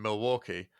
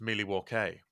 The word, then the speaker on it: Milwaukee: I'm saying it Derby because that's how it's pronounced in America, in Milwaukee, because that's how it's pronounced in America, except in Wayne's World, where it's pronounced Milwaukee, which is Algonquin for the good land.